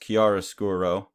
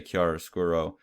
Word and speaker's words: chiaroscuro: art word for that, pronounced chiaroscuro. I can barely pronounce English words, so don't totally trust my pronunciation there.